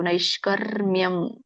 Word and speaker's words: ನೈಷ್ಕರ್ಮ್ಯಂ: ಯವತ್ತಿದೆ ಮತ್ತೆ ವರ್ಕವಳಿ ಇರೋದ್ರಿಂದ ಮಕ್ಕಿಂತ ಮುಂಚೆ ರ ಉಚ್ಚಾರಣೆ ಮಾಡಬೇಕು ನೈಷ್ಕರ್ಮ್ಯಂ ಮತ್ತೆ ಅಲ್ಲಿ ಅನುಸ್ವರ ಇದೆ